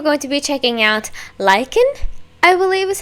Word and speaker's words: LYKN: And today we're going to be checking out LYKN, I believe is how you pronounce it. It's spelled LYKN, but it says it's supposed to be pronounced like LYKN. That was a lot of likes.